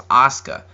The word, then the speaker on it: Asuka: like is that how it supposed to be pronounced then I realized it was Asuka um anyway Asuka has a very interesting attire